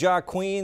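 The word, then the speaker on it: Joaquín: One's named Joaquin. The other's named Jack. What's the other name? They're both Julian. Julian, right? So you don't pronounce the J in either case.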